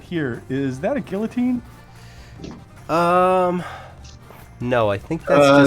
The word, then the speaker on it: guillotine: they don't have a guillotine popular like you know with two l's that aren't pronounced that's true it's like